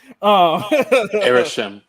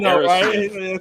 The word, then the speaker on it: Aerosmith: Yeah, I said it right that time. Aerosmith. See, you keep trying to say Smith. You're like Aerosmith.